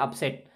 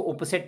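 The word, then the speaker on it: upset: और एक नया हमने आपको लफ्ज़ दे दिया अपसेट। तो आप इसके स्पेलिंग समझ लें, आपने बहुत इस्तेमाल किया होगा अपसेट, मैं अपसेट हूँ। तो इसमें बहुत से लोग इसको उपसेट पढ़ते हैं, तो यू को अक्सर क्या ज़बर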